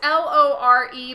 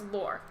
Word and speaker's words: Lore: Lore, yes, it's Lore, but the E is silent, so it's Lore.